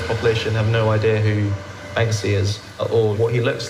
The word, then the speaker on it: Banksy: People think I'm saying Banksky. All right, I see what you're saying, Puff. I am saying it wrong, and I'm thinking that I'm saying it right. Banksy. I think I'm saying it right sometimes and wrong sometimes. I think I'm adding an extra K occasionally, or most of the time.